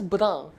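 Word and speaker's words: brun: will be pronounced as brown like n half sound not complete and is almost silent but some indication is there that this end at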